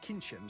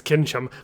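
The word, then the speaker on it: Kincsem: her to me he needed a warhorse and kinim certainly isn't that she's more of a racehorse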